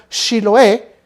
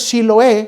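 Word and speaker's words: Shibboleth: Y se le decía a la persona: pronuncia la palabra Shiloé. Y si decían ellos Siloé en lugar de Shiloé, entonces los mataban, porque sabían que era de un grupo extranjero y no pertenecían a ellos.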